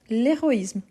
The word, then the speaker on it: héroïsme: de fautes parce qu' oui héros héros c'est un hche aspiré mais héroïsme c'est un hche mué l'héroïsme donc celui-ci normalement on se